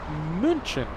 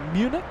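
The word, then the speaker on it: München: Captain Marcos, he's going to be flying uh flying the A380 to Munchin, as the locals say. Uh Munich, Munich, Germany.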